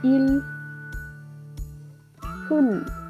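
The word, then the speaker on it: 일흔: El 70 se le dice il hun. Igual, esa U que se utiliza acá es una U entre dientes. No la pronunciamos abriendo la boca, sino que hacemos el sonido sin separar nuestros dientes.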